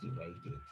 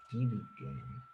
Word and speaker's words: dividend: Dividend, not divided, dividend.